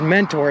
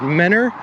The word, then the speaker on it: Mentor: but it's not pronounced mentor it's pronounced manor you guys just dropped the t and i have to